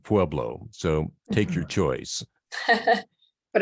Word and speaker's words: Pueblo: What's especially interesting sometimes is in Colorado, where you have a name that's Spanish derived, but the locals pronounce it differently, like Buena Vista instead of Buena Vista, and Pueblo instead of Pueblo.